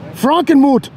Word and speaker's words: Frankenmuth: coming to you from frankenmuth frankenmuth frankenmoth frankenmuth frankenmuth that's how you say it in german watching a watchman amiga